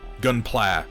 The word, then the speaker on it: Gunpla: around to turning into the red comet gunpla okay yeah that makes sense like i've read